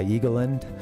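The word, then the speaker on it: Eagleland: I've never heard it pronounced Eagle Land. It's all one word, but yeah, Eagleind, a parody of the USA.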